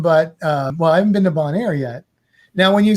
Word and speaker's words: Bonaire: Did I say it right? You did. You didn't say Bel Air. You said Bonaire.